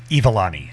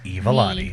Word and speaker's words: Iwalani: Ivalani. Ivalani. There's a W in there, though. It's Evilani. Evilani.